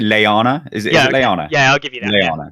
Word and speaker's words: Lyanna: Is it Lyanna?